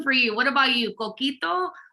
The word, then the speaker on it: Coquito: Coquito? Or am I saying this what? Pitorro? Am I saying it right? Yep, you're saying them right.